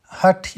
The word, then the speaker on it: Hatha: Hatha Yoga is pronounced as Ha and the Tha, which has the two roots.